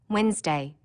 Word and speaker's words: Wednesday: that you don't hear Wednesday don't forget the D NE e and that it